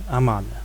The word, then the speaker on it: Amun: Because if you look at the transliteration, this name is transliterated as Y-M-N, which in the conventional pronunciation should usually be Imen. But Egyptologists tend to use the name Amun as it is attested in Coptic. Now, knowing the reconstructed vowel system, we can reconstruct the sound of each of the three words as such. Twate A'anr Amane. And that's how his name was probably pronounced in the time of the New Kingdom.